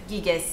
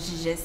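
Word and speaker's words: Gyges: Şimdi atölyelerde bilişsel ve duyusal gelişim bağlamında Gaygis'in yüzüğü ifadesi, Giges diye de okunuyor, Giges diyor Fransızlar.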